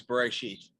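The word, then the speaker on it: בְּרֵאשִׁית: I don't know how to pronounce this word. It's either... You do. You do? It's Bereshit.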